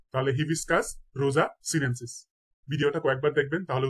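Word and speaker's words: Hibiscus rosa-sinensis: নেমফিয়া নৌচে আলী জবা জবার বৈজ্ঞানিক নাম হচ্ছে হিবিস্কাস রোজা সিনেন্সিস তাহলে হিবিস্কাস রোজা সিনেন্সিস ভিডিওটা কয়েকবার দেখবেন তাহলে উচ্চারণ গুলো ঠিক হয়ে যাবে ইনশাল্লাহ কলেরা কলেরার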